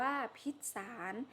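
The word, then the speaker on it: พิษสาร: พรรษา สาธุ ต่อ ไป pizza สาร นะ คะ อ่าน ว่า พิษ สาร ก็ หมาย ถึง สาร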